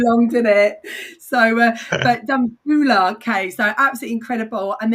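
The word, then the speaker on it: Dambulla: And by the way, it's Dambula. I knew you were going to correct me on the pronunciation. Didn't take too long, did it? So, but Danula.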